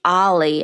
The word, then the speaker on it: o11y: Y and not everybody knows that that is pronounced Ali and means observability I observe that also open